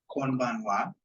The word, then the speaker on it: konbanwa: Yes, and note that this one does have the 10-10, so it is slightly different of the pronunciation there.